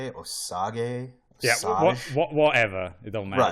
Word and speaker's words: Osage: It's literally O and then the word sage. So I want to say it's Osage.